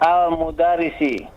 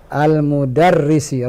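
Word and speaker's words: المدرس: Ana nukot al-mudarisi. Al-mudarrisi, ra-nya ditasdid.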